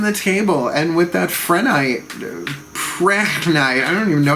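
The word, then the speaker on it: prehnite: casting for harvest with Prenite. I guess that's how you say it, Prenite. The H then would be silent.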